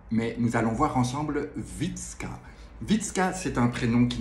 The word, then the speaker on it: Wytska: Ça ne le fait pas, mais nous allons voir ensemble Witzka. Witzka, c'est un prénom qui n'est pas courant, qui s'écrit W-Y-T-S-K-A.